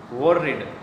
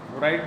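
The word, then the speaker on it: worried: वोरिड, वोराइड नहीं बोलना, थोड़ा प्रोनाउंसिएशन में देख लेना. वोरिड.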